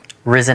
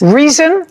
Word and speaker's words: Rizin: Risen Athletics. Reason? Risen. Risen. Spell it.